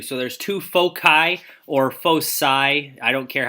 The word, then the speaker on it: foci: there's two foci or Foe sigh i don't care how you pronounce it I've always pronounced it foci but the other one is correct and what this is